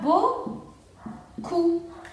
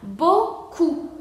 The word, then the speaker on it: beaucoup: Entonces aquí tenemos la palabra beaucoup y la P final no se pronuncia, entonces sería beaucoup y no se pronuncia la P.